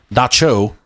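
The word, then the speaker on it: Dab Tsog: The phenomena is well known among the Hmong people of Laos, where this is attributed to an evil spirit, Dab Swam, pronounced Da Cho, said to take the form of a jealous woman.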